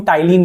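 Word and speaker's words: ptyalin: होता है जिसको हम टाइलिन बोलते हैं पी साइलेंट होता है दोस्तों इसमें तो हमारा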